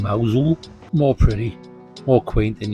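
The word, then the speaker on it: Mousehole: Gonna pop into this charming little place pronounced Mosul.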